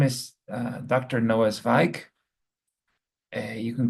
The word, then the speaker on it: Zweig: Um, it's Zweig, like the Austrian um, writer from the great Austrian writer Stefan Zweig from the last century.